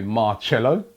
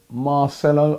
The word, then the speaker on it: Marcelo: go at me, yes, I did say Marcello, right? I got a brethren called Marcello. I think that's why I kept saying it. It is Marcelo. I do get some pronunciations wrong.